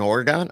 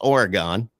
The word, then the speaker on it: Oregon: have have an oron it's Oregon you say Oregon like you leave out a okay so you leave out a whole syllable and I'm in the Northeast and we say Oregon I think I don't know W and it makes sense because the way it's spelled but the way I like to think about it is like in your body there's organs so that the thing